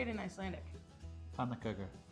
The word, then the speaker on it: Pönnukökur: Pönnukökur. Pönnukökur.